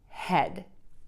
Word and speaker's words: head: This is kind of an exception. Usually when we see two vowels together, it's a long vowel, and you would think maybe you want to say E, but in this case, it's the short E, the sound.